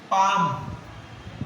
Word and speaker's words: palm: Palm. Palm. L silent.